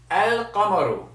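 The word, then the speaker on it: القمر: a moon letter and if it's a moon letter then that means you pronounce the lamb so you say El comoro and as I said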